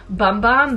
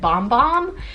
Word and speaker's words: Bum Bum: always want to say bum bum but I got corrected not me personally but I was watching a another Vlog and they were like you know the brand actually pronounces it bomb bomb so anyways here we